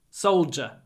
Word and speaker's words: soldier: 10 years soul soldier soldier it's a j sound I know it's a d but we say J Soldier and try to get